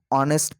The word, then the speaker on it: honest: these words honest r h is silent and the pronunciation of these words actually starts from o o and est when you pronounce it but when you